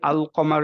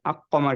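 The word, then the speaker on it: القمر: উচ্চারণ করলাম আমরা একচুয়ালি আল কমার যখন বলবো তখনই আমাদের মনে হয়ে যাবে আচ্ছা কমার ইজ দিস যে আলটা প্রপারলি উচ্চারণ হচ্ছে আকমার কিন্তু আমরা বলি না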